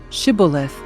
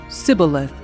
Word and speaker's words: Shibboleth: tell him to say Shibboleth. If he was from Ephraim, he would say Sibboleth, because people from Ephraim cannot pronounce the word correctly.